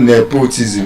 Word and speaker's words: nepotism: It's not nepotism. Where's your nepo baby? It is, oh, you made the switch on that. It's tribalism. It's nepotism. Nepotism. Tribalism. So those words are stressed on the first syllable.